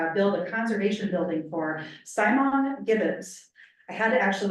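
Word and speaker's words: siamang: They are actually expanding to, build a conservation building for Simon gibbons. I had to actually look up the pronunciation because it's spelled really crazy, but so the Simon gibbons are an endangered species, and they're gonna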